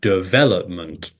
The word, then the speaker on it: development: you would know that the stress syllable comes on the second syllable and you say development and you would know